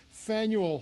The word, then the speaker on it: Faneuil: away but um that it's faneuil hall spaniel and i'll tell you that